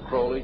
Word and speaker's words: Crowley: learned about with Alistair Crawley he likes to have his name pronounced Crowley to rhyme with holy and the satanists today